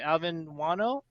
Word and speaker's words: Guano: everyone uh this is alvin and am i pronouncing right alvin wano yes joanna okay and uh where are you